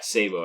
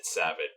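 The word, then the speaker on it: sabot: i don't know uh somebody corrected my pronunciation of sabo sabo yeah sabo i think it was uh i said savage but apparently it's sabo just set the record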